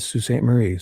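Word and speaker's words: Sault Ste. Marie: That's called Sue Staint Marie. So, it's spelled.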